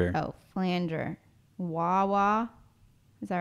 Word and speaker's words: flanger: Flanger. Oh, did you say plunger? No, I said flanger.